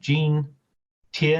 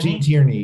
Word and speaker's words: Gene Tierney: So this leads us to Gene Tierney, who is am I mispronouncing her name? Gene Tierney. Gene Tierney.